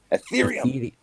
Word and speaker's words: Ethereum: How do you say it? Ethereum. Yeah. Just remember Ether. Yeah. Just remember the Ether.